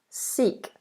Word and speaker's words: Sikh: Sikh. Long E sound. Sikh.